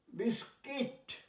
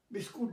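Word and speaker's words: biscuit: দেখো, ইউআই হস্যইকার হয়, build, guitar, বিস্কিট, বিস্কুট নয়, বিস্কিট, গিল্ট, গিল্ট মানে তোমার পাপ, অপরাধ।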